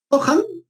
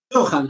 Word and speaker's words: Johan: Johan, como Gohan, Johan.